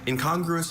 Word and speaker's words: incongruous: Incongruous means characterized by lack of harmony, consistency, or compatibility with one another.